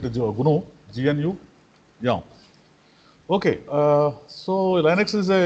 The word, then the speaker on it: GNU: We need to pronounce it GNU.